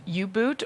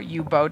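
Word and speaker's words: U-Boot: showing off today so this is you boot or u-boat depending on how you would like to pronounce that I you boot is a proper German pronunciation okay so this is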